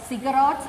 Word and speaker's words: ziggurats: Then the fortified Sumerian cities had the temples called ziggurats at its center.